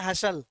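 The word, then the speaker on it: hustle: जैसे आप इसको बोले कैलामिटी, है ना, जैसे मैंने कहा आपसे बस्टल, जबकि होता क्या है? वो बशल। हस्टल होता क्या है? हसल।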